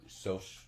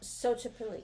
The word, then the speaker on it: Xochipilli: Social social social is pronounced So. Social social and so social the original social media god. No, Xochipilli.